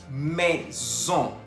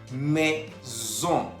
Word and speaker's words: maison: Maison. Maison. Se escribe M-A-I-S-O-N. Tenemos la presencia de la A-I que se pronuncia E y la O-N que se pronuncia ON.